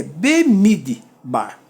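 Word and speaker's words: בְּמִדְבָּר: Então, ó, bemid. Fecha aqui, ó. Duas sílabas. Bemid. Porque as duas não constituem sílaba. Eu posso ler B, Mi e D. Mas sílaba é só com a vogal cheia. Tá bom? Com uma consoante com vogal cheia. Então, é bemid bar.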